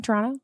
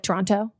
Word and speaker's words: Toronto: Toronto and then also you're hearing how I'm pronouncing it very Canadian Toronto not like Toronto T I know um and